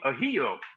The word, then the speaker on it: Ahedo: And the director is Tony Ahedo.